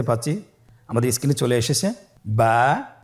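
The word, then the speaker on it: ب: আমাদের স্ক্রিনে চলে এসেছে, বা, তা, সা। আমাদের স্ক্রিনে চলে এসেছে বা হরফটি কীভাবে উচ্চারণ করবেন? বা হরফে টান হবে, এক আলিফ টান।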